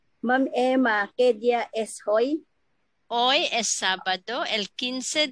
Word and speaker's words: hoy: Hoy should be not hoy, hoy. Hola is spelled as hola, but we pronounce in Spanish hola. That's why que día es hoy, not hoy.